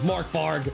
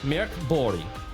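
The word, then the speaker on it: Mörk Borg: I I just adopt the dumb dumb American way. Mark Borg like sorry I'm it has an umlot. Respect the umlot. Um but yeah Mirk Bori I'm pretty sure is how you say it which is normally dark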